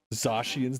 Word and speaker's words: Zacian: Zacian's the only way to pronounce it. It's usually what I say. Zacian or Zacian. Like, just remove the H.